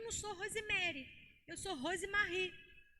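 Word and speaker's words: Rozemery: R-O-Z-E-M-E-R-Y. Mas se pronuncia Rosemarie.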